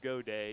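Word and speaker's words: Gaudet: And you hear Godet, and you think it'd be spelled G-O-D-A-Y. Why not? Right. But it's spelled G-A-U-D-E-T, so everybody thinks it's got it, but it's not.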